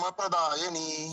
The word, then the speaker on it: प्रदायिनी: महाबला रक्ष सर्व काम प्रदायनी सर्व काम प्रदायनी जहां पे प्र होता है उसको दो ऐसा लगना चाहिए कि डबल प्र का उच्चारण हो रहा है काम प्रदायिनी ठीक है आगे काम